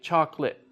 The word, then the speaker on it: chocolate: So for example, we don't say in English, we don't use all of the syllables with chocolate. So it's like when you spell it, chocolate. Wait, chocolate, right? And so like maybe in Spanish or something like that, they would still say that, like chocolate or something, whatever. But with English, we took it out. And so even though you still spell all of those syllables, native speakers now say chocolate.